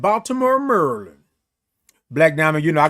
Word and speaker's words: Maryland: Black Diamond said, "Baltimore, Maryland." Black Diamond, you know, I got a friend that's from Maryland, right? from Merlin. And that's how they say Merlin.